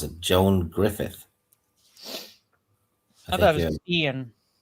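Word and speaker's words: Gruffudd: But it's pronounced Grufford or something, but or rather it's spelled Grufford, but it's pronounced Griffith.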